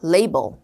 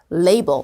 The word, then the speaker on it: label: 명사는 라벨, 동사는 라벨을 붙이다. 둘 다 되는데요. 발음은 앞으로 라벨 아닙니다. label. label.